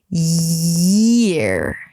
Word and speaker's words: year: going into S, yes, you're tricking your brain into thinking that you're about to say yes, but then instead you're going into ear, which you already know how to pronounce. Year.